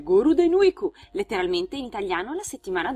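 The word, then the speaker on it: ゴールデンウィーク: Ma ve lo diciamo noi, si chiama infatti Golden Week, pronunciato dai giapponesi in katakana come Goruden Weeku, letteralmente in italiano la settimana d'oro.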